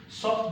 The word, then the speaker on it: sort: Sort because the E has been written, is in this word. Therefore, the E will make us pronounce the last consonant following it, which is T here.